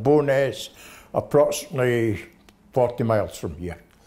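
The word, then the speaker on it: Bo'ness: I was born in a small village called Bowness, approximately 40 miles from here. Bowness? Could you spell it?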